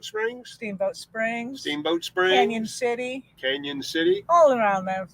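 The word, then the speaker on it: Cañon City: is that steamboat springs steamboat springs steamboat springs canyon city canyon city all around them which actually is is spelled cannon city you know why they know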